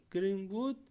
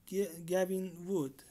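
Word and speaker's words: Gavin Wood: دکتر گرین‌وود، تلفظش گوین‌وود، پیتر چابان یا چابن و رابرت هابرمایر ستن از ایده پردازان و بنیانگذاران اصلی پولکادات هستند.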